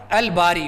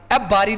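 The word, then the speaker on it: الباري: " अल-खालिक," "अल-बारी," हम " अब-बारी" नहीं पढ़ते, हम "अल-बारी" पढ़ते हैं, 'लाम' का उच्चारण किया जाता है।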